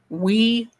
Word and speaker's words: Ouija: I don't do the would you board would you or Ouija or actually it's pronounced wea.